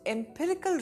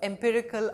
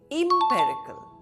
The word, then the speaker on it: empirical: Synonyms of empirical are observational, experimental and factual. Antonyms are theoretical, speculative and hypothetical. Now many students say empirical, but this word is pronounced as empirical.